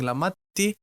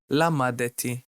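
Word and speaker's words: למדתי: So instead of saying lamadti, we can say lamadeti.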